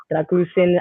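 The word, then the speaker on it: Drăgușin: good um yesterday another one was dra uh dragusin as people that's the way that you pronounce it I think he's a really good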